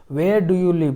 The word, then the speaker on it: live: आप कहां लिव?